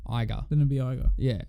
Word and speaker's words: Iger: Iger. Iger? Yep. But it's ER. It's not, it's IGER. It's still Iger. Okay, fine. Wait. No. You might be right. Like Tiger, but a T. Iger.